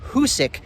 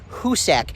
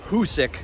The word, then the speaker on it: Hoosac: throughout the first Hoosick tunnel video you repeatedly pronounced the word Hoosick wrong it's husic not Hussein as you so eloquently put it so uh